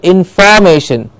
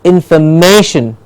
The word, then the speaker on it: information: happy yes hold now the next one information very often heard as information information yes and firm that is a different word in form but this word is information information information please remember how to say it in fur it is in fur and not in fall that's the info and